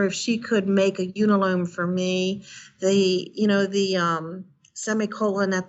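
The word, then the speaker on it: Unalome: I don't know the pronunciation of, how do you pronounce that? Unilome. Unilome, yeah.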